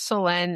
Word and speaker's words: Selene: I love selenite because it's actually pronouncing my name right, like selenite, because it doesn't have that extra E in it, so it's Selenite, and I got this heart that's made out of selenite.